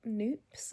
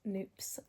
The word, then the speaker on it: Knoops: And then finally, before we came back home, we just stopped at this little spot called Noops. I think that's how you pronounce it. It's a KNOOPS, Noops, which is a little like chocolate specialty kind of cafe thing.